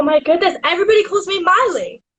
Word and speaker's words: Miley: I would sing, it's Miley with the my, not Millie with the me, cause Millie with the me goes me, not my. It's Miley with the my, not Millie with the me, cause